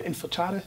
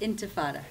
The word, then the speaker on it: Intifada: She works for Intifada. Did I pronounce that correct? Intifada. Intifada.